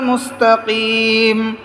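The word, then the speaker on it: مستقيم: হবে ইহদিনাস সিরাতাল মুস্তাকিম মুস্তাকিম হবে না কিম হলে ছোট কাফের উচ্চারণ হবে বলতে হবে ইহদিনাস সিরাতাল মুস্তাকিম এই দুই নক্তালা কফের মধ্যে টক্কর দিয়ে পড়তে হবে ইহদিনাস সিরাতাল মুস্তাকিম ইহদিনাস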